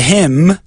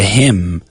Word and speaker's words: hymn: Not too difficult, and there aren't many words in the English language that have that silent N.